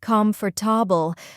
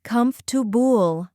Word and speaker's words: comfortable: Comfortable, not comfortable, but comfortable.